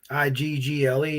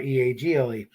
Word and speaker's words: Eagle: And if you're from Pittsburgh, it's pronounced Giant Eagle. Iggle, not Eagle.